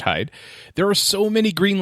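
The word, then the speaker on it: Heide: see at michael hyde h-e-i-d-e i believe that's pronounced hide there are so many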